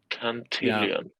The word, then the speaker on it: Cantillon: Cantillon. Exactly. You want to be close to the money. Yeah, it's spelled C-A-N-T and then illion, like million.